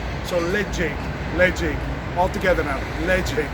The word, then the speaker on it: Ledaig: Lead as in the metal and Jake as in the name. So Ledaig.